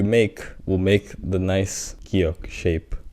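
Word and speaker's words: 기역: will make the nice giok shape. Giok has 2 ways to be pronounced. First one being g, clean g, and the second one being k, with a little more aspiratory sound added to it.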